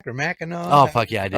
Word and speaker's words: Mackinac: But didn't you do something with Mackinac or Mackinac? Oh, fuck yeah, I did. Oh, God, fucking. Mackinac.